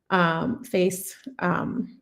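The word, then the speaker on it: FAISS: And so here I'm doing, setting up a local face, that's how you pronounce it, vector database.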